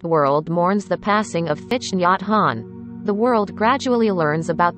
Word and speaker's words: Thich Nhat Hanh: multiple names one being thich nyat han pronounced te han was named nguyen din